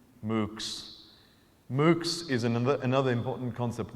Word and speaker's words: MOOCs: an acronym here, and if you pronounced it, you would hear cows. MOOCs.